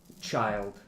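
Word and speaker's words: childe: Just child. It's It's pronounced It's still pronounced child. It's uh It's just ridiculous spelling cuz they're and trying to be special.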